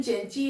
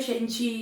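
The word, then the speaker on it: Cenci: द चेंची जो है इसका प्रोनाउंसिएशन चेंची है, और इसे पीबी शैले ने लिखा है। शेंची, चेंची कई तरीके से प्रोनाउंस करते हैं, पीबी शैले ने लिखा है।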